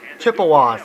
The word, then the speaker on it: Chippewas: Chippewas, okay, that's how you pronounce it.